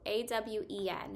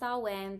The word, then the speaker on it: Awen: Awen is it's spelled like amen, but with the W, A-W-E-N, and it can be pronounced Awen, but it's Awen.